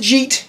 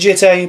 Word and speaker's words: Jitte: You can pronounce it Jeet, you can pronounce it Jitte, but all I know is that it doesn't fucking matter.